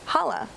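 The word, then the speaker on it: challah: Rabbi that we want to talk about is Hala did I say it correctly you did can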